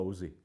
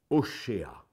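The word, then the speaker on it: Hoshea: propre langue et verra que ça se dit pas osé à l'hébreu ça se dit au chat si nous nous analysons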